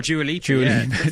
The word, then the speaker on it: Dua Lipa: Oh, Dua Lipa.